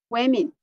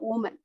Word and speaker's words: women: So it should be pronounced women. Yeah, so this you should pronounce it women, not woman.